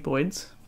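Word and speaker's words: boid: All the ball python people call them Boyds because of Ozzy Boyds, but it's like saying Boyd. Zoology. You know, there's two vowels there, so you pronounce each of them separately.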